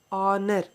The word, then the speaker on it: honor: x-ray machine okay here honor again h and honor to help you h is silent here so if you get